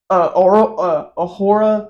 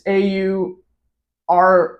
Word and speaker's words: Aurora: They did on Ahura. I can't pronounce that. It's AURORA. Aurora?